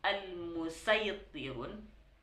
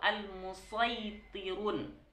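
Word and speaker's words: المصيطرون: Gimana cara membacanya? Dibaca al-musaytirun pakai sin ini, atau al-musaytirun atau memakai shad. Di sini ada keterangan bacaan shad lebih didahulukan dalam riwayat Hafaz.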